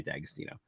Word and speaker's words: D'Agostino: But it's pronounced the same way, D'Agostino.